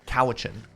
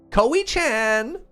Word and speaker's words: Cowichan: stuff like that and Google Maps kept pronouncing cowichin koichan and I just pictured